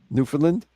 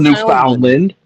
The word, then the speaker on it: Newfoundland: It's spelled New Foundland. It's like it's like together. Like you don't say to get her, you know what I mean? It's it's Newfoundland.